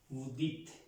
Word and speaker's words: dites: Vous dicez. No, me he equivocado. Dite. ¿Cómo? Dite. Es dite. Dites. Dites. Se escribe dites. Sí, aquí, sí, Z. Sino que en este verbo, para vous, se escribe así.